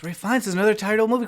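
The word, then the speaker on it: Ralph Fiennes: It's pronounced Ray Fiennes.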